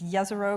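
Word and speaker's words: Jezero: the last few months it's going to be just a rogue crater or I think I've told the correct pronunciation is yes er o crater which is an environment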